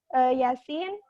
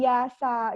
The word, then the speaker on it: Yasin: kan itu dibacanya bukan, kalau misalkan anak tidak tahu itu huruf dibaca huruf aslinya, mungkin saja anak cara membacanya itu jadi yasa gitu. Padahal kan itu sebenarnya dibacanya Yasin gitu kan.